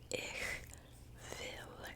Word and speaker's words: ich will: But ich will, it's pronounced differently because W's are like V's.